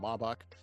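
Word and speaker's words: Maybach: a BMW and also a Mercedes uh I guess you call it Maybback, but I guess it's called Mabak. Uh it depends on how you want to pronounce it there.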